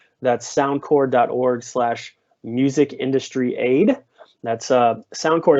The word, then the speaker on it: SoundCorps: That's SoundCorps is spelled sound CORPS, kind of like Marine Corps or Peace Corps.